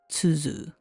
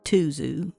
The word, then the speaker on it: Tuzu: actually pronounced to like this so the correct pronunciation would be tuu but I'm going to go with tuu because that's pretty much well what everybody's going